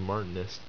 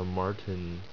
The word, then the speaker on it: martensitic: It's a martenist. Let's pronounce this correctly. It's a martensitic.